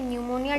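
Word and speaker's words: pneumonia: Pleuro न्यूमोनिया की spelling P से start होती है, लेकिन पी यहाँ साइलेंट वर्ड होता है।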